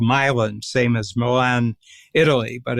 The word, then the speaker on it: Milan: It was called Milan, same as Milan, Italy, but it's pronounced Milan.